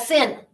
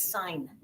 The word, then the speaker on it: sin: agreed to coincide and we take the E off and it does not become sin do not expose your ignorance and call that sin it's sign you say sign and you'll notice on